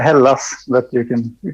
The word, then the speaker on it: Hällas: band uh yeah uh casper from halas everybody is that how you pronounce it um not really it's a hell loss that you can you